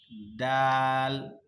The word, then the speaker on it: দাল: আজকে আমরা যে হরফগুলি পড়ব, এই হরফগুলি হলো দাল। দালের উচ্চারণ কি? মাখরাজ হলো, স্থান হলো জিহ্বার আগা, দাঁতের গোড়া। জিহ্বার আগা, দাঁতের গোড়া। দাল, দাল। তবে মুখ কোনোভাবেই বিকৃত অবস্থায় হবে না।